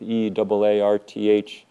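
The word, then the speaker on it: Eaarth: year this book Earth EA rth you kind of have to uh Channel your inner Schwarzenegger to sort of pronounce it correctly Earth um um um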